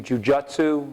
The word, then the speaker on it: jujutsu: something by like uh gracie jujutsu which is the way it should be pronounced by the way or